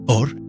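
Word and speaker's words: עור: Or, pronunciado igual, escrito diferente. Dos palabras, dos significados, un solo sonido. Or, escrito con Aleph, Vav, Resh, significa luz. Or, escrito con Ayin, Vav,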